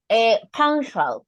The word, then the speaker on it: punctual: Punctual, punctual. Okay, we don't pronounce the U like you.